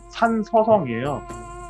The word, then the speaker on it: 산서성: 이 딴시성이라는 데부터 설명을 좀 드리면은 한자 발음을 하면은 산서성이에요. 산의 서쪽에 있는 지방이라는 뜻인데 산이 있어요, 이쪽에.